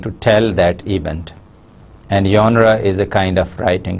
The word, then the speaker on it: genre: personal narrative genre first the word genre is a french word and it should be pronounced as genre genre genre means types or